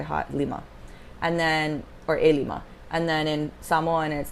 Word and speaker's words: Ilima: gets mixed up because because a Lima which is five is spelled CL IMA but a Lima which is my name is ili oh man well if